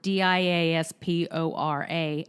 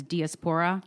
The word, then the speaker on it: diaspora: that I am apparently I pronounced the word dia SPO RA as diaspora its diaspora yes right thanks for